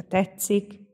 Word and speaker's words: tetszik: mondok inkább mást ugye itt a tetszik a t és az s találkozásakor a kettő összeolvadásával c hang keletkezik kiejtésben és ez csak